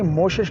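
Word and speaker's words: Moschus: हिरन के ग्लैंड से एक मेडिसिन बनती है मोशश, स्पेलिंग आपके स्क्रीन पे आ रहे हैं, इसको नॉर्मली होम्योपैथ डॉक्टर भी गलत प्रोनाउंस करते हैं, ये मोशश कहलाती है।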